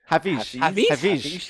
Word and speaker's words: Hafizh: Hafizh.